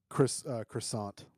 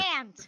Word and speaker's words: croissant: mispronounces croissant very loudly. Pronounces the T at the end. he made me snort. Croissant.